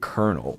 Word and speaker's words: colonel: But you pronounce it kernel. Where is there an R? Where is the R in kernel? You you pronounce it like a popcorn kernel.